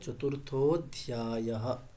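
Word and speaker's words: চতুর্থোঽধ্যায়ঃ: মানে চতুর্থ আচ্ছা অধ্যায়ः কেউ কেউ বলছে এরকম, তাহলে ওটা খুব ক্লিয়ারলি বলতে হবে আরও চতুর্থোধ্যায়ः, মানে ওটা যে লুপ্ত আকারের সাইন, ওটার কোনো উচ্চারণ করা যাবে না।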